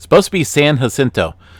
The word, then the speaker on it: San Jacinto: One of my subscribers here recently unsubscribed from me because I pronounced San Jacinto wrong. It's supposed to be San Jacinto. Like jalapeno, San Jacinto.